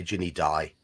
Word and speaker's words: Ginny Di: If she was in England, you wouldn't say her name Ginny D, though. You'd say Ginny Di. Yeah. Because And then in England, Di is short for Diana, as in Lady Di.